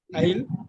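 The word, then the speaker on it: isle: எப்படி சார் அருமை அருமை அயில் இங்க பாருங்க அயில் இது ரெண்டையும் அயில்னு தான் சொல்லணும் இது வந்து ஸ்மால் ஐலாண்ட்ன்னு போட்டுக்கோங்க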